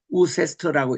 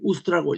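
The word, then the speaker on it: Worcester: 영어로는 W c 이렇게 해서 제대로 읽으면 우세스터라고 읽어야 되는데 이게 영국식 발음이 이게 우스트라고 읽어요.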